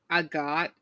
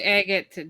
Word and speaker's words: Agate: a got which is did you just say I got and not agate oh I don't know I've heard it pronounced so many different ways I will say Agate named after the actual rock yeah I usually say I figured and her ability yeah agate oh yeah it's definitely pronounced Agate because the characters say her name well I couldn't remember